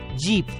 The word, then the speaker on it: jeep: आवाज हमने सीखी ई, और इसलिए JEEP का उच्चारण होगा J की आवाज ज, डबल ई की आवाज ई और P की आवाज प, इसलिए JEEP का उच्चारण होगा G-P, जीप।